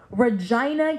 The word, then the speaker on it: Regina: see one available for Regina Canada and yes it is pronounced like the body part where the is Regina Canada I think to